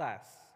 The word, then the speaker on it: SaaS: Rajendra dhandapani afternoon saas is pronounced ass so software-as-a-service 20-30 products